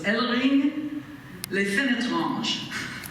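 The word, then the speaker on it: Hellering-lès-Fénétrange: It's spelled just pretty much like that with an H at the beginning, but you don't pronounce the H. So it's Ellering les Fenetranges.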